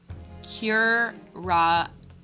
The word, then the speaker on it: curare: Your Excellency, even the slightest amount of this deadly poison entering the curare? Okay, curare. Okay, thank you. Entering the body leads to instant death. What? What complete and utter nonsense? Curare?